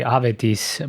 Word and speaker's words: Avedis: name that's not yours my name is actually avedis but you know growing up in La people couldn't pronounce it they said it in one consistent way they said it was avidas so I just went